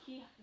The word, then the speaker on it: Kihon: I don't know how to pronounce this, but Sam wants to know if you're going to make any more Kihons. Kihons.